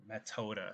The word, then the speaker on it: Methode: So, way here is actually methoda, so like method. Or metoda, I guess the TH is not pronounced like an American.